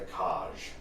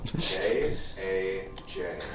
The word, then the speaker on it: Kaj: The Kaj. Kaj. How do you spell it? K-A-J.